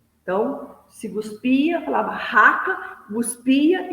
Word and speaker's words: raca: Se olha como se pronunciava a palavra raca. se pronunciava guspindo e virando o rosto para o lado. Então, se guspia, falava raca, guspia e virava o rosto para o lado.